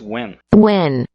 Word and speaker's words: when: Esse when. Aqui onde é que tem o i, é um sonzinho de e.